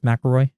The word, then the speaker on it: McElroy: tops so the uh mcelroy right is how you say them that's mcilroy yeah we we were going